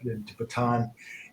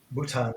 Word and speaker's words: Bhutan: year ago I don't if you remember that batan and batan Bhutan there we go got it right can't pronounce it that's why I couldn't go but